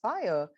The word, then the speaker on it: FHIR: fast healthcare interoperability resources where that is FHIR we pronounce it as fire where we're saying how